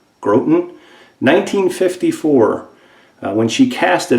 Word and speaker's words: Groton: submarine it came from Groton Connecticut I think is how you say it G ro t o n grote n' 1954 when she cast